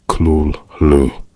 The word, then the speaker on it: Cthulhu: In a letter to Dwayne Rml 1934, Lovecraft noted that Cthulhu was never meant to be pronounced accurately by the human vocal tract, suggesting something like Kul Hulu.